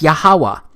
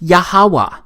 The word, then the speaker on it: Yahweh: But this YHWH, it's pronounced as Yahweh, because it turns out that the language was so simple back then that it vocalized each consonant with an ah sound without specifically marking that sound between consonants. So this YHWH, it's pronounced Yahweh.